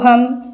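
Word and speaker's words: whom: यस, इसी तरह से सेकंड वन देखिए नील, तो यहाँ पर के साइलेंट रहता है तो हम के को जो है सर्कल करेंगे।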